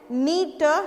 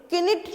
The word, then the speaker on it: knit: हम क्या बोलते हैं, नीट निट, किनिट नहीं बोलते हैं. किनिट ना बोल के हम क्या बोलते हैं, निट बोलते हैं.